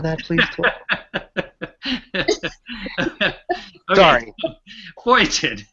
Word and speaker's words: feuilleton: Foyiten. Would you pronounce it one more time? It's pronounced foitin, and it comes from French.